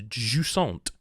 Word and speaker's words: Jusant: reason not to is jant jant and that is how you pronounce it I've checked um or how I would have pronounced it is French word I believe um it's